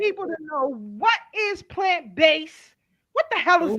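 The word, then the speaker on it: Plant Bass: So we came up with the name plant based, and it's spelled BASS. Some people like to say bass. It's not a fish.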